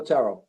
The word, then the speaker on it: Terrell: I know that you were familiar with that study that I also sent you yesterday by Terrell. Is that how you pronounce it? Bill Terrell, yeah.